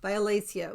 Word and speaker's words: violacea: yet is let's see she says how to pronounce it viola viola SIA violacea which is the Latin name for